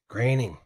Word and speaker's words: Groening: Right, and I still have trouble pronouncing Matt's last name. Groening.